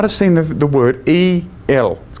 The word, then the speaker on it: El: And Michael is a name which means one like El. You might say, "Who's El?" We might have seen the the word E L. Pronounced El.